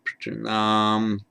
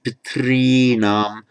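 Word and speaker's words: पितॄणाम्: Piternam. There we are. Piternam. Some people will pronounce it pitrinam. Some will pronounce it piternam. There are various views as to how it was pronounced all those years ago.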